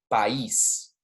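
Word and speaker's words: país: be a vice but we have to separate those two syllables to say el pais and then finally we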